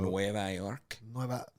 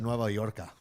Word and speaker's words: Nueva York: You mean Nueva York? Yeah, that's how you say it, right? Yeah, it is. Why don't you learn your Los culture? Mermen. I almost said Nueva Yorka. It's not Yorka.